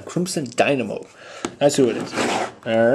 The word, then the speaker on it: Crimson Dynamo: Dynamo Crimson Dynamo okay I think I've been saying it wrong the whole time Crimson Dynamo that's who it is